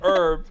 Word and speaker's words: herb: You just now strategically avoid saying the word herb because you say it herb and I say herb.